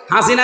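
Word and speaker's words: حسنة: লক্ষ লক্ষ মানুষকে দেখলাম কাবা শরীফে, এই রুকনে আমিনি থেকে হজরে আসওয়াদ এটা পার হওয়ার সময় এই নামটা উচ্চারণ হচ্ছে, হাসিনা না হাসানা।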